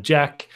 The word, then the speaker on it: Geahk: Jack is spelled Geahk, which is an unusual spelling.